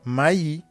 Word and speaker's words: maïs: Et aussi, vous trouvez aussi la prononciation du I tréma comme yi dans maï.